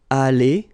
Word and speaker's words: allée: Here you've got aller, aller, even if you've got the final E, you don't pronounce it.